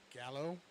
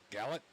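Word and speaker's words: Gallot: Gallet? Gallet? Is it Gallet or Gallo? Is it French? It's not French. Gallo. I think there would be a U and an E in there if Maybe.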